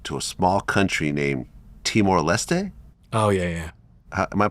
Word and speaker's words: Timor-Leste: You arrive to a small country named Timor-Leste? Oh, yeah. Am I pronouncing it right?